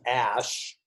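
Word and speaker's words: Æ: actually pronounced X and the AE is pronounced ash X ash X 12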